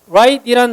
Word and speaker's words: rite: 자, 그 다음 right이란 단어인데 오른쪽이란 단어랑 발음이 똑같습니다.